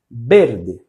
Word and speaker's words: verde: O som do V em espanhol, do nosso V, vai ser sempre com som de B. Então vocês verde, verde.